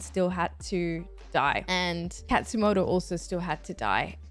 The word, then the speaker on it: Katsumoto: I swear I said the name wrong while I was reacting. Okay, it's Katsumoto.